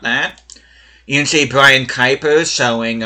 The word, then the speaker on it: Kuipers: You can see Brian Kuipers showing, or actually I think it's supposed to be pronounced Cowpers.